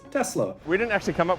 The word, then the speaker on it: Tesla: on an s now the reason it is tesla with s is because nikola tesla was a serbian inventor now he is from europe and in europe s's sound like s's because otherwise we would have really ridiculous words where s's become z's this is not the case it is therefore nikola tesla and the car brand is tesla we didn't actually come